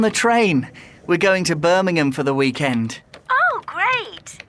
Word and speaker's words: Birmingham: to birmingham birmingham the the pronunciation is different it's birmingham now comes from the